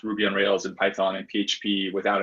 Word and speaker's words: Ruby on Rails: so some we teach people like how to pronounce ruby on rails and python and php without an accent like there's a lot of people who say they like um who'll be on hails right like uh did they speak spanish or